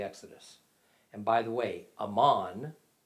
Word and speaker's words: Amman: and by the way amman the capital of jordan is just the arabic pronunciation of the ancient territory of amon which the kingdom of